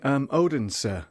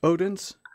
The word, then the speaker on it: Odense: Yeah, I had the pleasure of visiting Odense. Is it Odense? It's pronounced Odense.